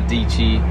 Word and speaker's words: Deechy: And if y'all don't know who Peachy Fam is, that's your girl Sarah Deechy, rhymes with Peachy.